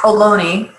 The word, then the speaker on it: Ohlone: Oh, it's Ohlone. Ohlone.